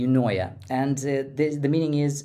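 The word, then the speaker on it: eunoia: me let me think e n o i a that would be unoa and this the meaning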